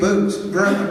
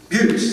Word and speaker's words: Butts: Boots. how do you say that? Your name? I'm sorry again? Butts. Butts. He's also running for cityhood here.